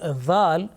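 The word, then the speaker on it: ذال: Now make sure that the letter Zal should be pronounced with thin and soft sound. Many people do a mistake here. They do not make a difference between Zal and Za, which is a buzzing sound.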